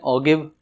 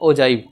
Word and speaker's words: ogive: एक आता है OGIVE, जिसको कुछ बच्चे बोलते हैं ओगिव, को बोलते हैं ओजिव, तो इसका सही प्रोनाउंस है ओजाइव।